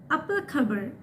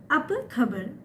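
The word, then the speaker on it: apa khabar: তো এটার উচ্চারণ হবে আপা খবর। আপা মানে কি, খবর মানে নিউজ। তো এটাকে ওরা বলে কেমন আছেন বা কেমন আছে, এটা আপা খবর।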